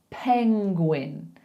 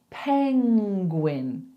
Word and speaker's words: penguin: So I don't really know what went wrong there, but all we need to say is penguin, penguin, penguin. So I want you to make that sound like you would for running, So we go penguin.